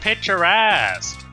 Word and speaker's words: picturesque: Oh, it's pronounced picturesque.